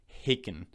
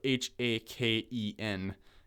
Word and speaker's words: Haken: now and that ban is i believe i'm pronouncing it right but haken um so h-a-k-e-n haken and the song that i would recommend